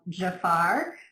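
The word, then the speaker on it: Tzafar: it's an anti-racist short film called Jafar, but it's spelled T-Z-A-F-A-R.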